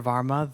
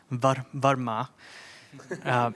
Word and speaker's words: Varma: Varma, though even in saying it that way, that's already an anglicized pronunciation, right? So it would be Varma.